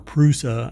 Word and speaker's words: Prusa: from Major Brands like pra or prusa I think it's pronounced any cubic igu bamboo